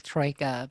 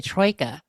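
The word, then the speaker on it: Troika: So Rey, you said Tro, didn't you when we were talking about it last week, and I thought it was Troya, but but yeah, I've heard people say both.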